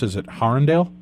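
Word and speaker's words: Harundale: into in the community of, how do you pronounce it? Is it Harrendale? Harrendale.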